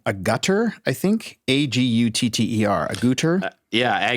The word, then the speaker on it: Agutter: Jenny, I don't know how to pronounce her name. Agutter, I think. Agutter. Agutter. Yeah, Agater.